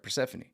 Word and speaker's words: Persephone: I pronounced it right. Persephone.